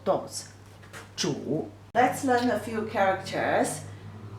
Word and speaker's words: 煮: 煮, the pronunciation is 煮.